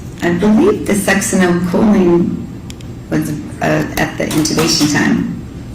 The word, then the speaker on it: succinylcholine: And so, if the, butcher the pronunciation, you pronounce it. Succinylcholine.